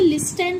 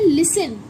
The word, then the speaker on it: listen: इसे हम क्या पढ़ते हैं, लिसन, क्या बोलते हैं, लिसन। तो हम इसे लिस्टन नहीं पढ़ेंगे, हम क्या बोलते हैं इसे, लिसन, ठीक है, लिसन पढ़ते हैं।